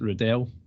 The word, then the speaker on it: Riddell: the sun name well i pronounce it riddell because it's d-e-l-l at the end i say riddle is r-i-d-d-l-e but i'm